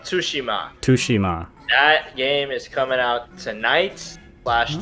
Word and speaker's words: Tsushima: bad yeah alright so ghost of Torishima is that how you say it ghost of Tsushima Toshima coming out tonight's